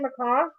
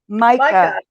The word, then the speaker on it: Micaiah: Macaw? Micah.